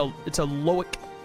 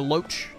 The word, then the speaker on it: loach: It's a loic. Or a loach. Loach would make more sense. It's spelt like roach with an L.